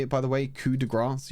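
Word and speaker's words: coup de grâce: it by the way coup de grass you ignore the p and you ignore the grace that again it's not Coupe De Grace it's kudra that's how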